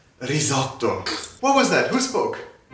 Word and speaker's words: risotto: Who's gonna teach me how to make risotto now? Oh my god, it's pronounced risotto.